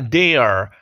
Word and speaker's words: their: necesitamos conocer el sonido la palabra es Dear Dear trata de ignorar el sonido de la i latina que está escrita ahí por favor no lo pronuncies Y di simplemente muy bien conociendo esto